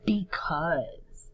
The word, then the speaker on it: because: Because. That sight word we use all the time. B. A-U says aw. Silent E on the end.